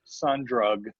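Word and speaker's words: Sundrug: spell it like that there's a bunch of other bands that are pronounced son drug but they're not su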